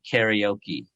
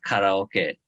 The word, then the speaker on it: karaoke: or Peru but uh Americans now say karaoke instead of karaoke and there's I I'm